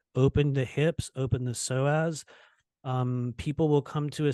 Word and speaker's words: psoas: it's the groin, it's what we call your psoas muscle. For anyone that's not familiar with it, it's spelled PSOAS, and it's a big muscle down there in your hips.